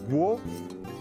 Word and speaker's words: gros: Et gros, un S qui ne se prononce pas.